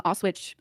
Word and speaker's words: Auschwitz: Also just calling me a Nazi, photoshopping Auschwitz in the background of...